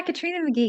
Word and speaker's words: Katrina McGhee: to today's podcast Katrina M did I pronounce that correctly did yeah Katrina McGee you got it Janice thank you so much